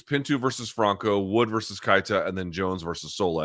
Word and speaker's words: Keita: They pronounce it on the broadcast as Losane Kaita. Kaita, okay, but he doesn't check the boxes we just talked about.